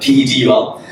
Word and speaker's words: Pedul: So Pedul. Pronounced like bike pedal, but Pedul.